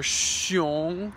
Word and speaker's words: xiong: In Chinese, the X sound is pronounced like a sh, sh. So like xiang or xi or xiong.